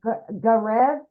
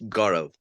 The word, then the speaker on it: Gaurav: We got, is it Garev? Yeah, hi. Hello. How do you say your name, my friend? It's Gaurav. Gaurav. Ooh, beautiful. Yeah, I'm Indian, so it's an Indian name.